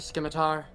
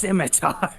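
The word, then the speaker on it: scimitar: anyone here like a skimmar I found it on the woman I was carrying before iar out I believe it's pronounced simitar I'm done clearly you are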